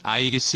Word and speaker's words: 이지스: 방패 아이기스 에서 유래했다 이지스 는 아이기스 의 영어식 발음이다 이 방패는 번개를 막아낼